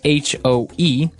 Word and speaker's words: hoe: It's H-O-E, and it's pronounced hoe. Hoe.